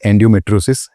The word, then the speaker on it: endometriosis: The term is endometriosis, if I'm saying it correctly.